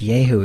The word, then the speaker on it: Yahoo: that yeah so yeah well sometimes pronounced yay who even when when you're referring to the culvers travels version oh yeah and yeah